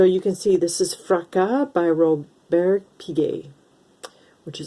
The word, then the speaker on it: Fracas: robert piguet in french in french it is pronounced fraca in english i suppose fragis fracas anyway this i wanted to have because i